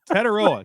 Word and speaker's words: Tetairoa: Tetairoa. I was ready. I knew the pronunciation police would be lined up outside.